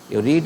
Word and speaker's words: read: रीड ऐसा verb है जिसका तीनों फॉर्म का स्पेलिंग चेंज नहीं होता, लेकिन बोलने में क्या बोलते हैं? रीड, रेड, रीड.